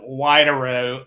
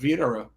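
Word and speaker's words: Widerøe: they yeah we'll see I would start with wide arrow and then somebody would remind me that I'm supposed to pronounce that as a V and then I'd go with Vitara right like BMW is BMV so the wsvidara is what we say in Norwegian that's where I grew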